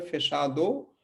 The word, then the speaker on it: fechado: लिखा हुआ तो है फिशादो और फिचादो, लेकिन इसको हम पढ़ेंगे क्या? फेशादू, है ना। तो कोई भी शब्द अगर ओ पे खत्म होगा तो उसका ओ का उच्चारण ऊ हो जाएगा, ठीक है।